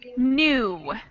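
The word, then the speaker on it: knew: Alan, it's your turn now, and your word is new. New. Milk? Milk? Sorry. No. Or milk? Sorry. The word is new. Oh, New. Excellent. So we have a silent K in that word, and there's another word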